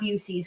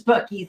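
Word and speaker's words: Buc-ee's: kept calling the bies bues yes it's not bues guys it's bies and don't call it bues because they get mad which is why we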